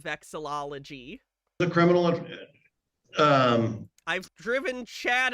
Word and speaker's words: vexillology: I call it vexology instead of vexillology.